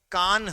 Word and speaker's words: कान: एक ये नदी है इसको ज लोग खान नदी कह देते हैं वो थोड़ा सा उच्चारण जो है गलत हो जाता है लोग इसको बोल देते हैं खान नदी क्या बोल देते खान नदी जबकि खान नदी नहीं है यह कान नदी है यह कान नदी है